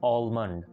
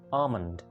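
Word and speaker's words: almond: इसकी इंग्लिश भी AL है तो हम इसको बोलते हैं आलमंड, लेकिन करेक्ट प्रोनाउंसिएशन है आमंड, correct pronunciation is आमंड।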